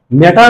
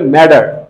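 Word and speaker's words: matter: এখানে দুইটা টি এর আগে আছে এবং পরে আছে কি, তা এই ক্ষেত্রেও তারা ম্যাটার না বলে এটাকে উচ্চারণ করে ম্যাডার।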